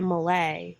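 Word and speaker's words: Malé: had to fly to Malay which is the capital of the Maldives m-a-l-e it's spelled with this group of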